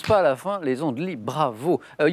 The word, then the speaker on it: Les Andelys: des andelys y est ce qu'ils ne se prononcent pas la fin les andelys bravo il y avait trois points jean michel